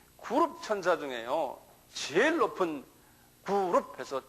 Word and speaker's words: 그룹: 본래 원어도 그룹이라고 이렇게 발음이 돼요. 그룹.